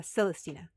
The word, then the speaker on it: Celestina: Uh Celestina. Celestina. Can you spell it for me? So, think Celeste and then just add Tina.